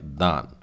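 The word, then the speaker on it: דן: ही छोटा नाम है, दालेत के नीचे आ की मात्रा है और फिर फाइनल नून है और ये लिखा गया है दान और उच्चारण भी आता है दान।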